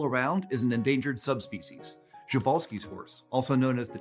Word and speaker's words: Przewalski's: I'm a Przewalski's horse. I don't know about that. They're from Mongolia. And I'm pronouncing it that way because that's how Sir